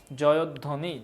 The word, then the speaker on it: জয়ধ্বনি: দ এর সাথে বচ্চারণে মাত্র পড়াইলাম যে ব ফলা যদি মাঝখানে হয় তখন ওকারের মত উচ্চারণ হয় জয়ধ্বনি জয়ধ্বনি এই জায়গায় ইয়া